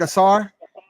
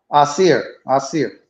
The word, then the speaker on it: Asir: Did I say it right? Asar? Asir. Asir. What's the difference Yeah. between Asir and Asar? That almost sound the same, man. Yeah, it sounds similar, but it's Asir.